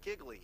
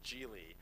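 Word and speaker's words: Gigli: out, people are like, is it Giggly? It's not Giggly. Maybe it should have been. That maybe would have been better. It's Gil.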